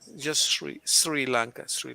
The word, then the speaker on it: Sri Lanka: that three sri lanka just as it sounds not shri not with sh but with sri 3 and not shuri